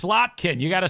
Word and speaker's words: Slotkin: to say it right it's it's slotkin you gotta say slotkin you can't say slin at Leisa slot at